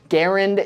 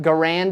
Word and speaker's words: Garand: Garand is the French Canadian pronunciation. John C. Garand was French Canadian, so that makes sense. But Garand is just a bit more natural for a lot of Americans to say.